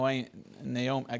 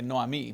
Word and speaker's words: Naomi: she says to no naom I want to say Noami because in Spanish it's Noami but to Naomi but now we know that